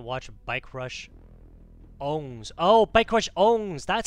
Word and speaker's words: Bikerushownz: we're going to watch bike rush SS oh bike rush owns that's how you say his name okay bike